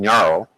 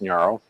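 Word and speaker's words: Ngaro: this virtual machine called Naro or at least I think that's pronounced Naro and that's how it's spelled there NG g a r o um and the idea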